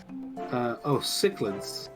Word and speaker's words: cichlid: Kitchlid? Kitchlid. I like how that one sounds. That one sounds pretty close. Google, answer this. Cichlids.